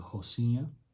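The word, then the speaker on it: Rocinha: brazil it's called the hossena spelled with an r their rs are basically h's at the beginning of words so it's the hossenia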